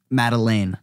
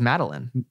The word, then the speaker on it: Madeleine: Is it, how do you say her name? Madeleine. Okay, because I always thought it was Madeline. Well, Madeline if you're lazy.